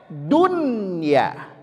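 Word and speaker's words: دنيا: Dari kelihatan dari segi penulisan seharusnya ini kita baca dya. Betul. Dari segi penulisan kita baca buy. Tapi tidak membacanya dunya diizharkan dunya.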